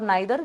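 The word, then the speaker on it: neither: और उसके बाद आते हैं आइदर और नाइदर, जिसको प्रोनाउंस करते वक्त लोग ईदर और नीदर भी कहते हैं, ठीक है।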